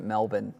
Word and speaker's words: Melbourne: Jack Boyds, you're correct in that we pronounce it Melbourne, but no Aussie in history has ever said put shrimp on the.